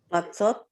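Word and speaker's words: מצות: But at the end of line 3, the consonant before O does not have a vowel, right? So then it can be the consonant for O. So how would you pronounce it?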